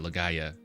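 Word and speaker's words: Legaia: Legend of Lea legaya legaya oh gotcha gotcha legaya is how they the they're pronounced their PS1 jpgs see lord beus is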